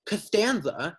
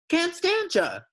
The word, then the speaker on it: Costanza: purposely mispronounced my name instead of saying Costanza he'd say can't stand you can't stanza he made me smell